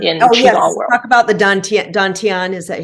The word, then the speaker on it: dantian: three danteans in in Ocean talk about the dantian is that how you say it yes that